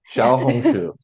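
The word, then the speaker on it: 小红书: The X doesn't make the normal sound you would think. So, No, it's more like an SH sound in Chinese, but you gotta like say the SH and then smile at the same time.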